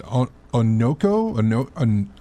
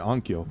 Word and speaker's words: Onkyo: Denon and I'm going to mispronounce it. Onoko. I want to say Onkyo.